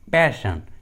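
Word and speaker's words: passion: इसके लिए ट्रिक है, यदि किसी इंग्लिश वर्ड्स में डबल एस के बाद ION या IA आता है, तो एस का उच्चारण श होता है, श। For example, मिशन, पैशन, सेशन।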